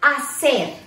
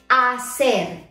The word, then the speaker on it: hacer: So let's start with the verb hacer. Hacer, to do or to make. Hacer, that H is silent.